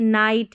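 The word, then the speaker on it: night: जी H silent है। जैसे देखिए नाइट है। जी एच को नहीं पढ़ा जा रहा।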